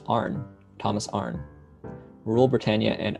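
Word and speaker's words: Arne: you pronounce it though it's just arn thomas arn rural britannia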